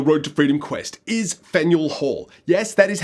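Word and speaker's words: Faneuil Hall: place on the road to Freedom Quest is fenel Hall yes that is how you pronounce it not fenu Hall which is how I honestly thought it was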